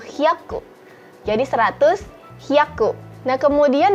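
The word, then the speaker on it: 百: Nah kemudian untuk 100 bukan juju ya teman-teman, tetapi dia ada bilangan khusus yaitu hyaku.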